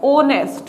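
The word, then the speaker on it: honest: ऐसे ही एन का आव, ठीक है, एन ऑनेस्ट मैन, ठीक है, इसमें साइलेंट होता है, अच इसका साउंड है वो। इस पे ध्यान देना कि ये जो ऑनेस्ट नाम है ये अच से स्टार्ट होता है, यानी कि किससे स्टार्ट हो रहा है, कॉन्सोनेंट से स्टार्ट हो रहा है, लेकिन इसका जो साउंड होता है वो क्या होता है, ओनेस्ट, यानी कि जिसमें अच है वो साइलेंट रहता है।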